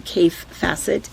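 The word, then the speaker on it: Kaffe Fassett: A lot of people, I think people who have been quilting for a while are very familiar with who Cafe Facet is. And that's how you pronounce his name.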